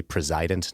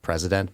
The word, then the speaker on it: president: mispronouncing the word, that it should be president, not president, because the idea is that he's supposed to preside over the executive branch of government.